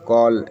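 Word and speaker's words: call: Rule है बोलता है जब भी किसी वर्ड में ए के बाद डबल एल रहेगा तो ए का उच्चारण औ का होता है। जैसे बी ए डबल एल क्या पढ़ेंगे इसको? बॉल सी A double L कॉल एम A double L मॉल।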